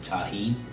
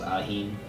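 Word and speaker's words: Tajín: Usually to add some flavor to my food, I'll go with, I pronounce it tahine, but I've been told it's pronounced ajín.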